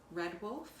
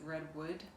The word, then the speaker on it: Redwolf: witch shawl by nat redwolf i think i said her name wrong in the last episode i think i said redwood but it's red wolf but she lives on